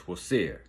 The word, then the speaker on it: Osiris: The ancient Kemites, also known as the Egyptians, they believed in a legendary being known as Osiris. The African pronunciation of that is Wosir.